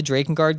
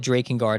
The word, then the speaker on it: Drakengard: And also, I pronounce it Drakengard and not Drakengard.